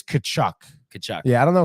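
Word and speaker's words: Tkachuk: What do you think about Prefers Burner saying that Chachuk is actually pronounced Kochuk or Kachuk, whatever? It is Kachuk.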